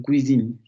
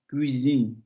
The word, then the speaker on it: cuisine: Por ejemplo, cuisine. Vamos a... Cuisine. Es esta. La, la. cuisine, cuisine, ya.